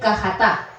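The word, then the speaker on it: חטא: entonces la palabra aquí la palabra hebrea se escribe hata con j verdad Pero al pronunciar se dice cajatá en hebreo sí cajatá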